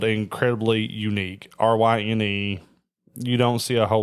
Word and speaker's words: Ryne: So my name is spelled incredibly unique. Ryne.